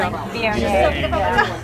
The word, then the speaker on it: Viognier: Viognier, and that's the way you pronounce that. One of the most mispronounced wines. Yeah, Viognier or something. Viognier. Nobody says it that way, so I kind of go back to saying Viognier.